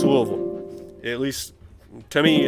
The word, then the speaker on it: Louisville: at least to me it's pronounced louisville and anybody in uh in that area will call it louisville don't know what louisville i don't know who does that but it's louisville all right here's two